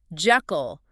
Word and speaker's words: Jekyll: Mansfield and his American cast said jackal with a short e like. And that pronunciation has largely stuck even though it might not have been Stevenson's intention.